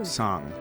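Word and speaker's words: Aocang: In Mount truth, Outsong. That's how you say it.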